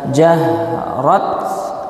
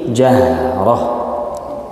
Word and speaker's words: جهرة: Ya, kalau misalkan tak marbutoh berharokat tanwin baik fathah, kasroh, dhammah, tanwin fathah, tanwin kasroh, tanwin dhammah, kita berhenti di tak marbutoh itu dibacanya ha sukun. Jahrah, bukan jahrat atau jahrota, ya.